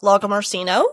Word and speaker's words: Lagomarsino: Can you introduce yourself so that I don't mispronounce? I'm Logamarshino, and it's humbling to be here.